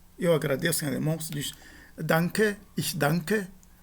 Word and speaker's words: danke: em alemão, se diz danke, ich danke. Esse N, ele tem exatamente esse som de uma nasal gutural, e tanto no caso